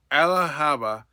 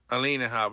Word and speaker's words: Alina Habba: New Jersey DA Ella Haba to open investigation to Governor Murphy's over state refusal to assist ICE Alina Haba.